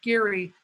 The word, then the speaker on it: Gerry: where the governor elbridge gary um and that's pronounced with the hard g g gary and some